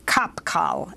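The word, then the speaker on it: Qapqal: the labor bureau of kapkal is that how you pronounce it that's right that's uh that's a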